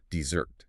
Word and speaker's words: desert: So, for desert, you know, the hot sandy place with camels, you drop the anvil on the first syllable. Desert.